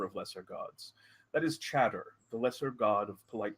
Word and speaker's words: Chatter: her name is, well, it's spelled Chatter. In the old tongue, that was pronounced Shatter. But in the modern tongue, and since names are very potent, we have convinced her that she's Chatter, the lesser god of conversation.